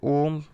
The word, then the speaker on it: ओम: ऐसे जैसे अपन ने ओम लिखा होगा, ओम ऐसे लिखा होता है, तो ये तीन का मतलब है कि इसका उच्चारण, ओ का उच्चारण है ये लंबा खिंचने वाला है।